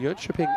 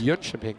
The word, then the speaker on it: Jönköping: Yeah, I'm trying to say it right in Swedish, which my Swedish isn't great. They're inventing vowels that I never even thought of.